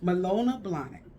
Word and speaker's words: Manolo Blahnik: it and so i'm finishing it off with manolo blahnik yes you see i can really say it right malona blonic and malona blonic has i did decided to